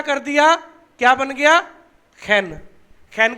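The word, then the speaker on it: חן: नून, खैत और खैन, खैन बोलते हैं उसको। जो सही प्रोनाउंसिएशन है खैन, खैन। सारे बोलो खैन। हैन नहीं, हैन मैंने मुर्गी होती है, हैन नहीं, खैन, खैन, यस।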